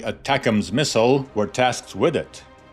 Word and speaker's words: ATACMS: Engineers from LTV (Ling-Temco-Vought), creators of such renowned vehicles as the A-7 Corsair II attack aircraft and the ATACMS (читается одним словом Атакмс) missile, were tasked with it.